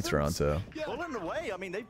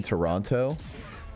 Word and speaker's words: Toronto: attempt just trying to don't pronounce a second T in Toronto but I'm looking toward